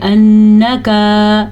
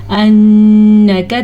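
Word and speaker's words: إِنَّكَ: بجائے حمزہ محسوس ہو۔ انک نون کا غنہ ادا کرنا ہے اور کاف کو بڑی زبر کے ساتھ پڑھنا ہے نہ کہ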